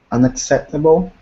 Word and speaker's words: unacceptable: Sergio for n unacceptable you got to put in that k sound it's missing there's two C's so one of them sounds like a k like a Kappa say it again unacceptable good good okay uh